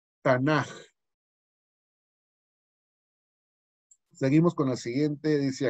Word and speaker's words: Tanaj: Nada más que en hebreo, cuando la letra K viene al final de una palabra, no se pronuncia K, sino se pronuncia J cuando va al final. Entonces, por eso se pronuncia Tanaj.